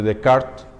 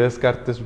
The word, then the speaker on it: Descartes: Mientras que en la época moderna, tal vez el pensamiento era el pensamiento de Descartes, bueno, de Descartes, si lo digo en francés, se escribe Descartes, Renato Descartes, era pienso, luego existo.